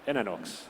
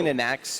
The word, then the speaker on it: Inanox: pronounce his name wrong, Inanox. What have you been going with? Inanox is actually right. Right, cool. Inanax, you could say, but it's not.